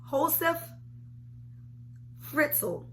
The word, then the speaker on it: Josef Fritzl: And his name is Josef Fritzl. Josef Fritzl. And the J is silent.